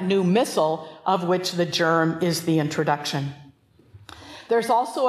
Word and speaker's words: GIRM: funny an acronym and we pronounce it germ and you will remember